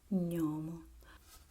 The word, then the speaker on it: gnomo: One, the Italian way, is a soft, fluid, palatal and nasal sound, gnomo. Okay? While in English you have this guttural sound, gnome.